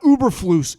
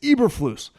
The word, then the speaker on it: Eberflus: But I feel pretty good about making the educated guess that, and a lot of people are like, say his name correctly. It's not Uberflus. It's Eberflus.